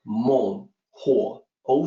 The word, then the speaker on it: Menghuo: slide mold so again the weakness of the pinyin system makes this difficult to pronounce correctly it's like mole Oh Sam mighty warrior king